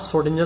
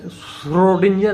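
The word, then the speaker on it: Schrödinger: आप सोडिंजर साहब है सोडिंजर सोडिंजर ठीक है आप वैसे सोडिंजर है इनका उच्चारण सोडंजर लेकिन बोलने में जरा कठिन पड़ेगा तो आप सोडिंजर ही बोल दो कोई बात नहीं 1887 में आप पैदा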